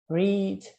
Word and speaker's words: read: Tenta repetir aí na sua casa, depois da minha pronúncia, só para você pegar a pronúncia de cada palavra. Help, ajudar. Open, abrir. Play, jogar. Read, ó, read.